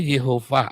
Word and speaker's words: Yehova: Yang benar itu bacanya Yehova, ada tanda baca masoretnya.